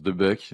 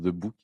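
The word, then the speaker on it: De Boeck: maison belge qui s'appelle les Français prononcent de Buck les Belges prononcent de book quoiok he attends j'ai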